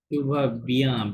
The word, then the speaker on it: tu vas bien: লাস্টে তো সাইলেন্ট লাগবে না। চু ভা, Tu vas. Tu vas bien. চু ভা বিয়াঁ, বিয়াঁ আই এন থাকলে ইয়া সাউন্ড হয়।